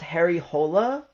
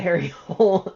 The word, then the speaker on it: Harry Hole: Um, I think it's actually pronounced Harry Hola because of um it's like Swedish or Norwegian. Um, but they pronounce it Harry Hole in the movie and